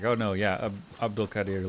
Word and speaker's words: Abdul-Qadir: in and was like, no, it'd be Abdul-Qadir, like it's a long A sound. But then everybody I talk to is like, oh no, yeah, Abdul-Qadir, like there's about 6